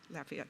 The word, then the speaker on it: Lafayette: Did I pronounce that right? Lafayette, thank you.